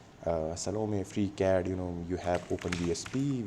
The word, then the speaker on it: Salome: It's actually pronounced Salome. It's a French company. Salome, free CAD, you have